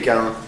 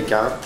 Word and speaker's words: Caïn: qui va m'intéresser, c'est l'histoire biblique d'Abel et Caïn. Vous connaissez l'histoire biblique d'Abel et Caïn?